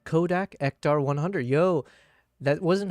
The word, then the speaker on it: Ektar: So the film stock profile is called Kodak Ectar 100. Yo, that wasn't how I remembered how to spell it, but I said it right.